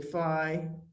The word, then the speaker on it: phi: In case you've noticed, sometimes I'll say phi, sometimes I'll say phi. I've heard it pronounced both ways.